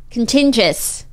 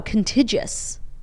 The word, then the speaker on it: contiguous: orders within the contiguous I can never pronounce that word contiguous contingents no extra n no contiguous contiguous U.S Europe Canada and